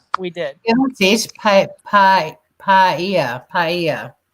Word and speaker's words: paella: Paella. That's how you pronounce it. Not paella.